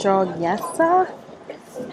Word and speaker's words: Jogyesa: don't think there's coffee in this we're at joa Temple that's how you say it so look